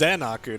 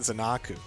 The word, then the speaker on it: Xenokur: there we're being corrected it's xenokur not zanaku that man's called mad